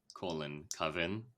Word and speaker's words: Coven: It is Was that the Coven. correct Not Caven. pronunciation? Definitely not Caven. It's not a I didn't Coven. say Caven. It's not a Caven.